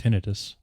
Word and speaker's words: tinnitus: It's actually pronounced tinnitus.